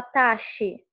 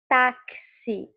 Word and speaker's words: táxi: Você não fala taxi, você fala táxi. Ao falar táxi, esse X, uma letrinha, portanto, tem dois sons. Deu para entender? Não parece que você fala mais de uma coisa aqui nessa letrinha X? Você fala tá, que, ó, taque, se. Deixa eu fazer um Szinho. É muito difícil escrever aqui. Parece que eu estou sendo alfabetizada agora. Mas, ó, esse X tem dois sons.